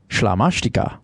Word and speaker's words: Slamastica: It's Slamastica, pronounced Schlamashtika, which I didn't want to say the first time out because then you would think I was just out of my mind.